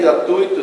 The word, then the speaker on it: gratuito: províncias tá tudo tá é fluido pronuncia-se confirma verbal 18 melo cuidado com força no kur assim também gratuito circuito intuito fortuito no entanto o partícipe do